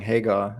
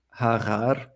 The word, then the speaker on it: Hagar: So if you have the name Hagar, for example, instead of saying Hagar, I say Harar.